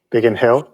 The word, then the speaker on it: Biggin Hill: So he grew up in the small countryside town of Biggin Hill. Did I say it properly? Biggin Hill, yeah. Biggin Hill in the UK.